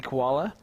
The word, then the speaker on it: Koala: That's Andy Koala. For those of you that are in the same chat as him, that is how you pronounce his last name.